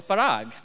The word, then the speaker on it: Parag: colleague, and that is he pronounces my name authentically. Now, not correctly, but I mean authentically, like the Indian way. So my name at home is Parag.